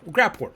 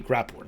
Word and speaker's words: Graphorn: just to get a Graphorn, sorry. Bit confused about the name, have heard multiple pronunciations, I think, or I'm just wrong. Basically, Graphorn, there we go.